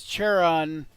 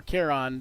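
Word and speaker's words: Charon: So as as as Cheron or Keron depending on how you pronounce pronounce it yourself there uh as he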